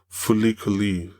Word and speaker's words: FLCL: And yeah, this anime definitely reminds me a little bit of this other anime called Fulikuli, which is spelled FLCL.